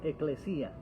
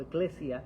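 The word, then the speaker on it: ἐκκλησία: Esa era la eclesía, en griego, eclesía o eclesia, como usted piense sea mejor pronunciarlo, pero no es la iglesia que nosotros muchos crecimos, muchos conocen.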